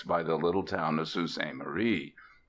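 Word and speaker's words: Sault Ste. Marie: the little town of sous a Murray pronounced abruptly soo we happened on at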